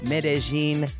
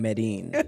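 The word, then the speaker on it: Medellín: of we tripping in medin Colombia mhm oh you said it right it took me the whole trip to stop saying medine I thought it was Med until like the last night but medine Colombia it's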